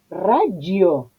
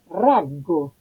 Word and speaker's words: raggio: Entonces, hay que decir raggio, yo, no, porque esa I no está para ser pronunciada, está para no decir raggo, porque si yo quitara la I, estaría diciendo raggo.